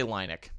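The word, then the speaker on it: Lynik: Linux was a species I'm gonna say linick I think that's a more Star Wars pronunciation the linick was a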